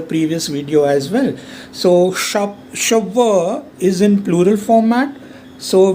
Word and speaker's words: cheveux: For example, il a les cheveux. CH is sh, this is a, EU is a, and last consonant is silent.